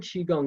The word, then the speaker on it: qigong: so qigong the word qigong is pronounced chi as in c-h-e-e uh the second word is kong like k-u-n-g or k-o-o-n-g it's a